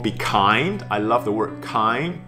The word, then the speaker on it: Kind: And kind, interestingly, this word in German is called Kind. It's pronounced as Kind.